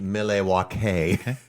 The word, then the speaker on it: Milwaukee: is always scary mhm it's going to come Milwaukee is an Al Algonquin Algonquin for the good land I think you need to say it it's actually pronounced Mele is that correct yeah okay bird scooters are